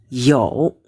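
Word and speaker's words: 尤: Ini bacanya yo ya. Yo ini lebih lagi gitu ya. Bukan nada ketiga ya, nada kedua, maaf ya.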